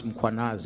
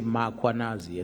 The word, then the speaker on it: Mkhwanazi: them to pronounce muanaz, they will put an a after m. They will say muanazi and there's no a muanas.